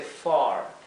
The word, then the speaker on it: far: Fíjense la pronunciación de far. Aquí lo escribí far, porque no tengo otra manera de expresarlo, pero la A se pronunciaría far, far, ¿bien?